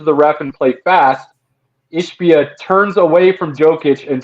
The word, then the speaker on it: Ishbia: Ishbia. Can never say it right. It looks like Ishba, but whatever.